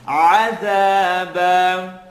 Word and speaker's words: عَذَابًا: Bite into your ayn, عَذَابًا.